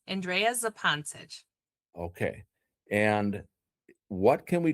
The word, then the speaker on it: Zupancich: So, your name, pronounce it for me one more time. Zepantisch. Andrea Zepantisch.